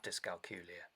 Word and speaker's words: dyscalculia: out that you have dyscalculia okay so i found out i had dyscalculia which is pronounced to rhyme with julia um when i was